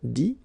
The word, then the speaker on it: dit: IRE here, IT, but then phonetically it's I as well because you don't pronounce the final T, okay? Écrire, écrit. IRE, IT, same group. Dire, dit.